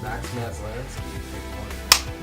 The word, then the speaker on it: Maslansky: Max Maslansky.